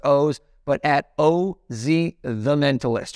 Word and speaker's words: Oz: Twitter, and it's at OZ. Looks like Oz. Blame my parents. It's actually pronounced O's, but at OZ the Mentalist.